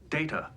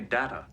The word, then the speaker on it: Data: good as they got it is pronounced data oh you called me data what's the difference one is my name the other is not the data on the